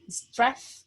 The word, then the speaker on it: strength: Strength? Strength? Strength, yeah. Yeah, strength. Yes, Strength. we don't pronounce the G, we just say strength.